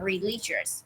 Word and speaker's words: religious: though following a religious từ này đọc là religious ba âm like Buddhist được không?